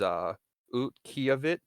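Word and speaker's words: Utqiaġvik: city is Utqiagvik, I believe is the pronunciation, formerly known Hmm.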